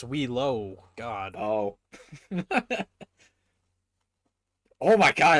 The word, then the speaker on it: Wheelo: it's not Wheeler, it's Wheelo.